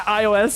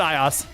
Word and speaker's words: iOS: Funny hearing you try to pronounce it as a word. Yeah, iOS. Yeah. Yeah. No, I I always pronounce it iOS.